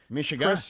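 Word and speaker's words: mishegas: this other kind of Mishagas. Okay, Mishas. I hope you heard that right. That's the proper pronunciation.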